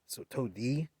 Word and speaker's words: Tode: There's a DE at the end there, so Todi.